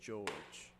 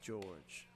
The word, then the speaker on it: Jorge: number 23 Isaiah George it's spelled Jorge but I was told prior to the game it's pronounced George so we're going with George as he takes hyper